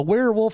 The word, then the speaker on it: werewolf: Do you say where? A werewolf? That does kind of sound right too. Werewolf. Like warehouse.